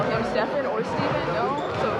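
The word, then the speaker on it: Stephen: Steph, is there an origin story at all to why your name is pronounced Steffen as opposed to Steven?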